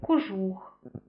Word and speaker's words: кожух: ненаголошений звук став наголошеним інколи трапляються слова де ненаголошений о також може вимовлятися з наближенням до близького у і відбувається це тоді коли наступний склад з наголошеним у або і це наприклад такі слова як кожух е сопілка в таких словах ми